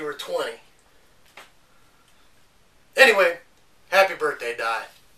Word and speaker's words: Dai: I think it's pronounced Day. It's not either. It's pronounced Di.